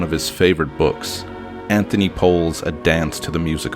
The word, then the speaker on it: Powell: I've read online that he apparently pronounced it Anthony Powell.